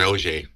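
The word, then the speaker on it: Oger: I usually pronounce it Morgan Auger.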